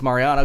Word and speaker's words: Marianne: You are pronouncing it correctly as Mariana because that's a French pronunciation. But it is spelled as we would spell Marianne in French.